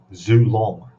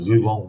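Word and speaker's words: Xue Long: a ship and it's called the um Zoo long there's a zoo long one and there's a zoo long two I think that's how you pronounce it x-u-e log one and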